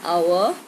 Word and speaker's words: hour: For example, an hour, an honor, an honest man. Now in hour we do not say hour. We say hour, so the H is silent.